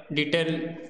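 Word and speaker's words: debt: 20 number 21 अछि the word Depp is pronounces word Depp को हमें केमिति प्रोनाउंस करिवा ऑप्शन ए रे होची डीईआईटी ऑप्शन बी रे होची डीईटी ऑप्शन सी रे होची डीएआईटी ऑप्शन डी रे होची डीईबीटी। तो यार करेक्ट आंसर कौन हो डीईटी डेट।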